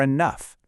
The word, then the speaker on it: enough: Sometimes gh decides to throw us a curveball and sound like an F, like in cough or enough.